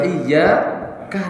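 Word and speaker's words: إِيَّاكَ: Ya, berarti di sini asal hurufnya ya-nya itu ada berapa? Ada 2. Maka membacanya bagaimana Pak? Iyyaka na'budu. Coba bareng-bareng. Iyyaka na'budu. Nah, kenapa? Kalau ini sampai tasdidnya hilang bahaya Pak.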